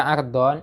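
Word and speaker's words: عرض: Kalau dibaca ardon itu lebarnya.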